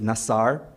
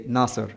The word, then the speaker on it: Nasar: I wrote this article when I was in Kuwait and my family name is Nasar, but everyone would always just say Naser and this persisted for 36 years in the country.